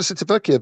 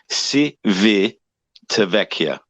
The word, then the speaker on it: Civitavecchia: Repeat after me. Civitavecchia. Civitavecchia. There you go. But I probably pronounced that wrong anyway, but it has that extra syllable in it.